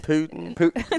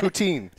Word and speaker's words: poutine: Putin? No, poutine. No, it's Putin. It's spelled Putin. I think it's Putin. It's poutine. It's poutine.